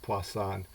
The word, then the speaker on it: Poisson: It's spelled like poison, with two S's in it, but it comes from the French.